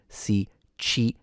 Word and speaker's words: Sicilia: The stress, of course, is on chi, so the middle syllable.